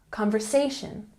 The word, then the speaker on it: conversation: Conversation has the emphasis on the third syllable. Conversation, conversation.